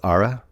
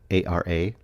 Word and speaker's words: Ara: It's Ara, A-R-A.